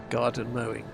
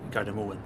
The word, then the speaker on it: Gardermoen: Garden mowing. No, that's the bad pronunciation. That's the way I read it. 75. I'm not Norwegian, but the correct name would be Gardermoen.